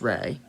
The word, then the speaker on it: Ra: The word Ra is the name of an ancient god called Ra, pronounced Re.